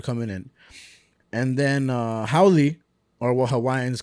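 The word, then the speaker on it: haole: and foreigners were coming in and then uh howy are what Hawaiians called white people in Hawaii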